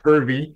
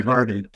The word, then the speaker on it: Hervey: The last name is Hervey. Did I say it wrong? But I get a lot of people that call me Hervey.